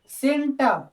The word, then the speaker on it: centre: हम लोग एग्जाम्पल देखेंगे, किसी शब्द के लास्ट में अगर आर आता है, इसके साथ कोई और वॉवेल नहीं आता, वॉवेल, तो ऐसी स्थिति में इसका उच्चारण आ हो जाता है, सेंटर, सेंटर, सेंटर।